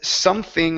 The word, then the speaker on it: something: Let's go to the word something up here. Give me a TH sound instead of something. It's something. Something.